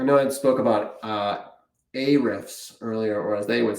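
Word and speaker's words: Ahrefs: I spoke about uh a riffs earlier or as they would say I think the company pronounces it h refs. I don't know why they don't pronounce the A.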